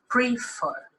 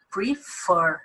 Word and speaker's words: prefer: Então, notem bem, o verbo é prefer, a gente não diz prefer. O verbo é prefer, sílaba tônica, a última, oxítona.